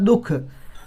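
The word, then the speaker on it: दुःख: इसको ह की तरह उच्चारण किया जाता, दुख, तो ये ह की तरह उच्चारण होता है।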